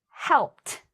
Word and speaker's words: helped: So, I want you to try this because I think it really can help you with your ed pronunciation when ed sounds like t.